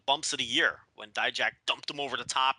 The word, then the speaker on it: Dijak: Is it Dijak? I can never pronounce his name.